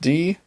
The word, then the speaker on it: die: Words use der pronounced der when they are masculine. They take die, pronounced die, when they are feminine, and das, pronounced das, when they are neuter.